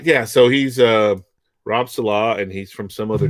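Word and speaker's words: Saleh: No, it's Salah. Salah. Salah. Okay. Because Salah, I heard somebody pronouncing it Salah.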